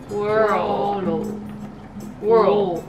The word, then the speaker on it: world: World。ただ World の発音どうするの聞かれるんだけど、World はうの発音からう World は World World。